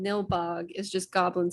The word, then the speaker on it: Nilbog: Bilnog? How do you pronounce the town? Nilbog. Nilbog. She immediately was like, "That's just goblin spelled Oh, backwards."